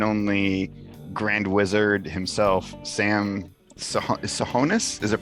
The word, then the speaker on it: Tsohonis: grand wizard himself sam sahonis is it pronounced yeah yeah okay so it's perfect it's a silent t that's the only trick that's my mc name